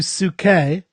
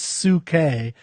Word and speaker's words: Psyche: Okay, so today we're going to talk about Ode to Psyche. Now that's how I pronounce it. You pronounce it how? I pronounce it Psyche, as in from psychology.